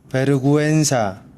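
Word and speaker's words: vergüenza: 구엔사, 베르구엔사. 쑥스러운, 창피한 이란 뜻입니다. 베르구엔사, 구엔, 우물라우트가 붙어있는 것은 구에라고 읽지만 끼 여기까지만 아시면 돼요.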